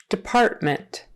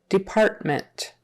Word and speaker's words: department: the end Sals sales department department so that first syllable it's more like a d d you can say Department often we'll just say Department Department partment Department e or i on the end but the syllable stresses in the middle Department quarter quarter okay